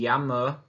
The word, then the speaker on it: llamo: Remember how to pronounce that double L is with a Y. Me llamo.